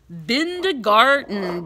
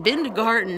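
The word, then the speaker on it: Bindergarten: teacher a kindergarten teacher her name is Miss bin de garden binned garden and that rhymes with kindergarten we're gonna be getting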